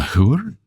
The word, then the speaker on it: whore: A whore? The H is silent. Whore.